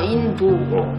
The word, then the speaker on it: 인도: 이제 제가 인도 그러잖아요. 근데 이제 인디아는 영어식 표현이고요. 이제 인디아를 한국어로 발음할 때 인도라고 합니다. 아, 인도.